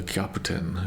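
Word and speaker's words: キャプテン: So in Japanese it's caputen like literally let me just hold up. Okay. So this is just a kaputen is how that would be pronounced and it's just captain.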